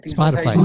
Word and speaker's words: Spotify: you can download it on itunes and spotify spotify yes yes that's how you pronounce it because i have friends that are